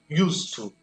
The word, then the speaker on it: used to: Pronúncia, o to aqui influenciando o use. Então, eu tenho used to.